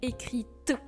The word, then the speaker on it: écrites: intéressant un point phonétique on commence à prononcer la lettre t à la fin parce que sans accord c'est comme écrit les j'ai écrit mais avec l'accord c'est j'ai les lettres que j'ai écrites ou par exemple le